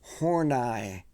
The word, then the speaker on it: Horney: them like going like Karen Horney is how you pronounce that name we'll leave it at